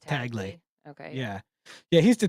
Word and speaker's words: Tagle: Tagley. Tagley. I don't know who it is. Hey, I was saying Tagle the other day. I believe it's pronounced Taglay.